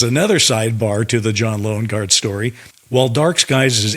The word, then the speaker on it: Loengard: You and I liked that name very much because even though it's spelled Loengard, Loengard. We liked it because it was subliminal for lone guard, basically the guy standing at the gates.